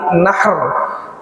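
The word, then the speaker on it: نحر: Jadi harinya disebut hari nahr. Kalau hari menyembelih namanya disebut yaumun nahr. Nahr H kecil. Kalau yaumun nahr H besar, berarti apa? Nahar, sungai.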